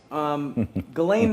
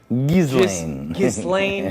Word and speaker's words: Ghislaine: Ghislaine Maxwell, or as you say, Ghislaine. Ghislaine. Okay, so the S is silent, and from a self-proclaimed former spelling bee champion, I'd expect better pronunciation out of you.